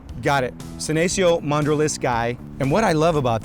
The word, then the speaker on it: mandraliscae: Mandriliskayo. Right, got it. Senecio Mandriliskayi.